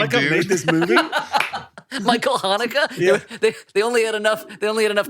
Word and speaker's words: Michael Haneke: Michael Haneke?